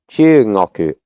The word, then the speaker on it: 中国: Even though in pronunciation here, 中国 Chugoku, the G becomes soft, or the before the